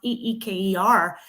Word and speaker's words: Iker: spelled e not spelled i k e r but it's pronounced e-e-k-e-r so even my son